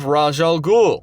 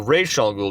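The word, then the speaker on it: Ra's al Ghul: living in the Limelight you have rajal Gul or Ral Gul depending on how you pronounce it who is a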